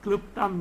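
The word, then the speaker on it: क्लृप्तम्: See, what it kluptam means, kluptam, not la. There are certain things you have to do acrobatics to pronounce that. Lu, lu. Okay. The vowel, it is not the consonant.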